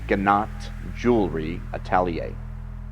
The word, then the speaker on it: Gnat Jewelry Atelier: So the correct pronunciation of our business name is Gnat Jewelry Atelier.